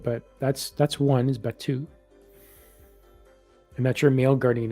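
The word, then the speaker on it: Biatu: angel's name is is batu it's b-i-a-t-u but it's pronounced like batu and i know i'm not really pronouncing it right but that's that's one is batu and that's your male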